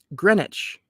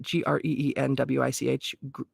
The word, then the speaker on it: Greenwich: minutes is deducted from Greenwich Greenwich Mean Time I think that's how you say it g-r-e-e-n-w-i-c-h Greenwich or Greenwich Greenwich Mean Time for